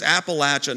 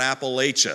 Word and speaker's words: Appalachia: up in Virginia and it's Appalachia not Appalachia if you go down to Alabama they'll say Appalachia you go to Maryland you'll say Appalachian but how do I